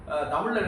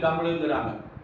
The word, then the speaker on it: தமிழ்: தமிழில் நிறைய பொருள்கள்லாம் இருக்குது. மிருதுவான குணம்னா மென்மையான குணம் என்பது உச்சரிப்பு. இந்த உச்சரிப்பு வந்து தப்பு இல்லாமல் உச்சரிக்கணும். தமிழ் வந்து தப்பு இல்லாமல் தமிழ்னு சொல்லக்கூடாது. எல்லாம் ரொம்ப பேர் தமிழுங்கிறாங்க. தமிழ் என்று சொல்ல வேண்டும்.